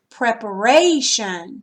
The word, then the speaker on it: preparation: Okay, now look, if we put the suffix shun, preparation. See how the accent moves here?